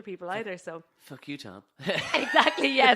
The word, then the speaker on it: Thom: So she came onto the roadcaster, and I said, "Oh, and Sandy Thom, I pronounced the H." Yeah. And she was like, "It's Tom.